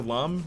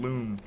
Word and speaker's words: Lum: And yes, her name is pronounced Lum in the anime, which is why I said Lum and not Loom. Apparently, she pronounces it Loom, but she's wrong. It's Lum. You are Lum.